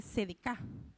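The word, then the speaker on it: צדק: Eh, la palabra hebrea es es un poco difícil de pronunciar, pero se dice sedek, así, CDK.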